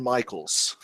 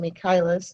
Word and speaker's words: Michaelis: And the lady with the brilliant tan is Michaels. Hi. Hi, Bunty. How are you? Fine, how are you? I don't pronounce it Michaels, so I pronounce it Michaelis, though.